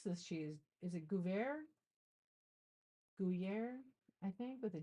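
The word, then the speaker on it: Gruyère: I pronounce it Gruyere. Yeah, I think you're right. Gruyere.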